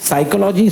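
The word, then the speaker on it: psychology: साइकोलॉजी सुना है साइकोलॉजी साइकोलॉजी की स्पेलिंग क्या होती है प एस वाय सी एच ओ एल ओ जी वा कैसा पढ़ते इसको साइकोलॉजी पढ़ते यह साइलेंट होता है इसको पढ़ते नहीं है यह रहा तो बोलेगा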